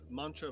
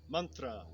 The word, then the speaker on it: mantra: I would say that philosophy, physical exercise, breathing, self-study of scripture, of artistic symbolism, mantra. Most people are familiar with the word as mantra, but it's mantra.